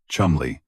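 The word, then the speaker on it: Cholmondeley: Independently of Fleming, a young flight lieutenant in MI5 section B1A, Charles Chomanderly pronounced Chumli conceived a remarkably similar plan.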